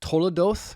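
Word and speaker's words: תולדות: his family so the word is actually um toodo is how you pronounce it in Hebrew it's spelled t o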